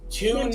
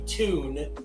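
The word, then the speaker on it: Teun: by a Dutch journalist tuned Tony Well, the Dutch pronunciation be tune or toying probably tune.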